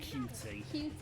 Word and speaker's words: Qt: T I'm pronouncing it cue but this meant to be a pun on cute yeah cue is also